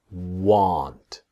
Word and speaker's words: want: And then won't is very different to want. This is the pronunciation part. That will not is won't. If you see the mouth, it's a small won't. But want is different. That this part here comes down. Want. Practice. Won't, want. Here, want. Okay? Won't, want. That's the difference.